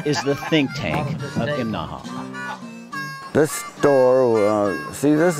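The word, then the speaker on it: Imnaha: this morning we're in imaha now that's three syllables imaha you have to say it that way or people in town will laugh at you right behind me that's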